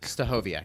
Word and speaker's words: Stachowiak: Super excited about Stachowiak. I'm pronouncing that correctly? Right? Stachowiak, that's right.